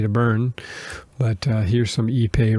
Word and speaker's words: ipe: more refined it's called ipe ipe it is pronounced ePay and it's basically a